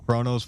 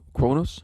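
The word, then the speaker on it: Qo'noS: me if uh if kronos was destroyed now when you hear the pronunciation it sounds like kronos k-r-o-n-o-s right that's what i always hear but it's actually q-u-o-n-s and then also in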